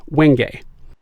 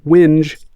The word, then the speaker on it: wenge: Its name is pronounced wenge. If you call this wood wenge, woodworkers will cringe.